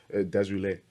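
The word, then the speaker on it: Desrouleaux: And so phonetically, Desroulet. Okay. It's Derulo, but just spelt differently, right?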